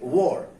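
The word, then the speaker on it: were: हम इंडियन लोग इसको वेयर पढ़ते हैं, लेकिन इसका असल प्रोनाउंसिएशन अमेरिकन एंड ब्रिटिश लोग कहते हैं वॉर।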